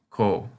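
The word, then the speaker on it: こ: It's pronounced ko, as in Coca-Cola.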